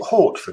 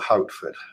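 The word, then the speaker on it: Hautford: Is it Hortford or Houtford, Mark? I'd pronounce it Hoford myself. H-A-U-T-F.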